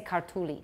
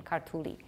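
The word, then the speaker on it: ქართული: So what you're supposed to do is stress the first syllable a little bit and then forget about stress. So if the word is, for example, we would like to say kartuli. That's the word for Georgian, kartuli.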